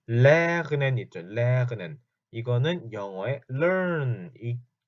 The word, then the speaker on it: lernen: 볼 건데 이건 자, lernen 있죠. lernen 이거는 영어의 learn 배우다 공부하다는 뜻입니다. learn 그래서 lernen, lernen 이라고 우리말로 보통 쓸 텐데 lernen, 그 목에서 그 목 안쪽에서는 소리가 나야 돼요. lernen, lernen 이거든요.